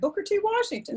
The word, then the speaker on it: Booker T. Washington: I don't want to pronounce it wrong. Booker T. Washington? Oh, that's correct. Booker T. Washington.